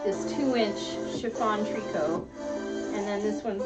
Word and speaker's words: tricot: Tricot is spelled T-R-I-C-O-T. It looks like tricot. It's called tricot, and it allows you to cut it without it unraveling on you.